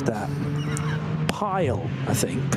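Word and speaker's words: Pijl: would you pronounce that pile I think p i j l and the I and the J in Dutch is often considered to be like the English why so I'm going to say pile I think it's I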